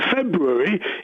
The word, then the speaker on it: February: No one pronounces the first R.